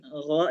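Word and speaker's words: غ: Jadi gain gho itu kalau bisa g-nya agak hilangin ya. Jadi enggak benar-benar persis ada g-nya enggak tapi go agak ngambang-ngambang g-nya.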